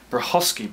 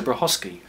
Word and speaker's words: Brachacki: We're doing a 1970s Brachacki box. That is how you pronounce it, by the way. How do I know? Well, because when I was at school, my teacher for 3 years was one Peter Brachacki, spelled exactly the same way as the guy who